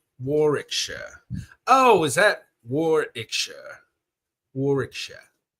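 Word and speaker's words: Warwickshire: Uh, ah, we don't pronounce the middle W. Warikshire. Warikshire.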